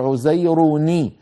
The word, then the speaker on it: عزير: اليهود عزير ابن الله، عزير آخرها تنوين، والتنوين ما هو؟ نون ساكنة، عزير، انظروا عزير نون ساكنة لكن بعده ساكن اللي هو الباء من كلمة ابنه، فاجتمع عندي في النطق ساكنان، التنوين اللي هو النون الساكنة يعني والباء، فالعرب لا تجمع بين ساكنين، فإن وجد ذلك في كلامهم حركوا الأول، فعزير شو بتصير؟ بتصير عزيروني، النون الساكنة تكسر اللي